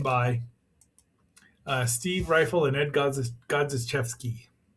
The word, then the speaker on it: Godziszewski: And our final book here is the biography of Ishiro Honda, written by Steve Rifle and Ed Godziszewski. Yes, I think that's how you say it.